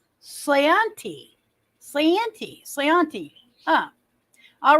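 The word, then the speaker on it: sláinte: next occasion I slianti slainty is that s-l-a-i-n-t-e I'm gonna pronounce it slanty Santi sayanti ah all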